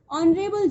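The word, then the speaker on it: honorable: एंड ऑनरेबल जॉब, यू कैन see that H is silent in ऑनरेबल. सो H silent है, एच को हमने कट कर दिया. सो यहाँ पे क्या बचा? ओ, ऑनरेबल. तो ओ का साउंड भी ऑनरेबल आ रहा है, मीन्स वोवेल साउंड आ रहा है.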